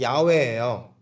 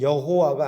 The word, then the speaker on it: 야훼: 하나님의 이름은 여호와가 아니라 야훼, 여호와, 야훼 비슷하잖아요. 야훼일 거다.